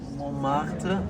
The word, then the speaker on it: Montmartre: I'm thinking of like Montmartre.